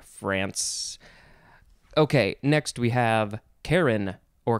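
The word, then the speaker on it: Charon: district in eastern france okay next we have karen or caron capital c-h-a-r-o-n noun from 1513 a son of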